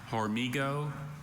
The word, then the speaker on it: hormigo: Yeah, there's a there's a that's a tough one, but that that H sound can be spelled with either a J or an H in Spanish.